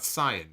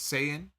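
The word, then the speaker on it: Saiyan: right you're learning also it's not Sayan now it's sayyan you know this anime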